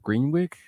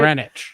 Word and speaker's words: Greenwich: I'm gonna be actually at Greenwick Comedy Club next Saturday. Greenwick? Greenwich? Greenwich? Did I say it right? Greenwich.